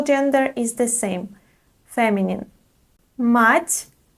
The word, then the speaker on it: мать: The next word is мать. Мать. There is a soft sign at the end, so we pronounce soft t.